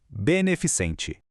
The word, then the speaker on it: beneficente: Não existe letra I ali antes da sílaba final. A pronúncia certa é pura e simplesmente beneficente.